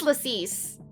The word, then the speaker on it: Lacis: My real name is Lacis, but I guess you don't hear it around here. It's Latvian. People mispronounce it all the time, so Lacey is what I go by now.